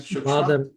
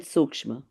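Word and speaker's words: sūkṣma: Am I pronouncing it right? Badara and Shukshma? Badar and Sukshma. Badar and Shukshma.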